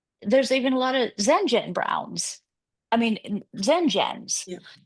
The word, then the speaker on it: Zenjen Brown: even there's even a lot of Zenjen Browns. I mean Zenjens. Yeah. So Zenjen Brown is still only three syllables.